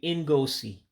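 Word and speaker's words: ngosi: You would just say En-Goe-See. Again, it's just 3 syllables. En-Goe-See is show. And remember your special pronunciations, that I becomes an E when you pronounce it.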